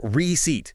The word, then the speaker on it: receipt: It's just receipt. Two syllables. stress on the second one.